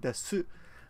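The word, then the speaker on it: です: These words are spelled su, and su arimasu is the spelling, and desu, but we rarely pronounce the u at the end. It's arimasu and des.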